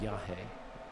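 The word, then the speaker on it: yagé: Just to finish on the case of ayahuasca, the other form of ayahuasca is called yahe, which is spelled Y-A-J-E.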